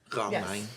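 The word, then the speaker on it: Romijn: You do not need to roll a single R. It's just a silent J. Just ignore it.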